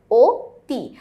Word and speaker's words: অতি: আমরা জানি অতি শব্দের সঠিক উচ্চারণে হচ্ছে ওতি। কারণ হচ্ছে এখানে রস্বীকার আছে সেই কারণে।